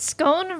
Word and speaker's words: scone: Oh lord, scone rhyming with own? Yeah, that's how I say scone.